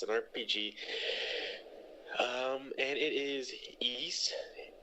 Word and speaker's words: Ys: The Ys series, it's spelled just YS, but it's pronounced Ys.